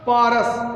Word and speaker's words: porous: The ground through the पारस। एक word है POROUS, जिसका प्रोनाउंसिएशन है पारस।